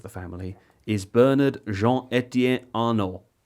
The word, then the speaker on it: Arnault: I guess the patriarch of the family is Bernard Jean-Etienne Arnault. So I guess maybe they don't pronounce the T if they're French.